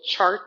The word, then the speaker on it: Chih: streaming device my little chart back here, but there's the name of our practice that we're going to be doing today, Tai Chi Chih. That third word is pronounced cha, like chuck wagon.